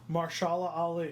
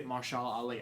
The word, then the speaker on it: Mahershala Ali: Mahershala Ali. Mahershala Ali.